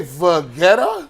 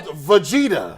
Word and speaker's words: Vegeta: ghost that was good did you say vetta is that how you pronounce it's called Vegeta oh damn it it